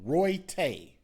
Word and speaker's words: Royta: riverchase galleria last friday so they're saying royte royte so again to the family i guess i'll pronounce his name wrong roy tay they're saying that's what his name is douglas was at his